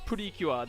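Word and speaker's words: プリキュア: i'm a fiora maine this is purikyua in japanese it's purikua these are i guess the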